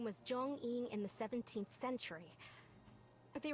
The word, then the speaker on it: Zhong-Yin: There's a subtlety here to how they're pronouncing the J, because it's a romanization, and it's very authentic.